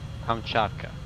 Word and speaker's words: Kamchatka: Kamchatka.